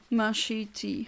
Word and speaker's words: machete: Mashiti, okay.